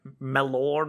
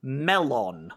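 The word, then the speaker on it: mellon: Oh, that's another uh word they mispronounce in the SW uh because they call it like melon or something. But in uh in the books and in the movie they say uh it's true pronunciation melon.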